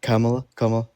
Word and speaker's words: Kamala: Kamala. Kamala.